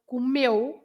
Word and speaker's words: comeu: So comeu. You say meu. The stress is on meu, not comeu.